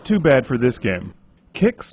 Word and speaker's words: QIX: Kicks or quicks, depending on how you pronounced it. I think it's kicks like the serial but with a Q like the guy from Star Trek, is played with the